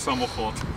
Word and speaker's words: samochód: Count's Dance (unofficial music video) Alcohol Car How do you say "car" in Polish? Samochód. Task: Drink like a gentleman.